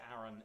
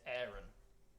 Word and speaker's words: Aaron: thinking about this it's you would say Aaron I would say Aaron if I was saying it someone called Aaron but I think it's gonna be better if we pronounce it Aaron can we sing it it's a little bit posh it's a little bit affected but if we all